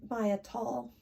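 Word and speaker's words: Maia Toll: I'll tell you that the deck I used for this particular thing that I did was this, I believe she pronounced her name Maya Tall.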